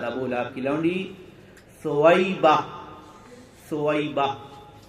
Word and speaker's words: ثویبہ: لہب کی لونڈی ثویبہ، ثویبہ، بہت سارے صوبیہ بولتے، بہرحال اس کے تلفظ میں تھوڑا سا دو طریقے سے بھی لکھا ہوا ہونے کی وجہ سے لوگ آگے پیچھے کر دیتے ہیں، لیکن ثویبہ نے آپ